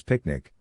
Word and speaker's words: PQNK: PQNK to be pronounced as picnic which stands for Peter Kratinam cashiari and means the regenerative and sustainable pristine organic farming system.